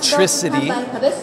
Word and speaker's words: Tricity: don't do it because that's not how you pronounce it it's TriCity the early versions of